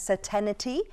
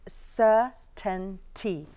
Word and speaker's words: certainty: it's commonly mispronounced as certainty which is incorrect you do not need that extra syllable the eye is not there it's sir 10 T 3 syllables not 4